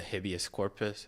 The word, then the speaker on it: habeas corpus: But isn't that the point of the habeas corpus?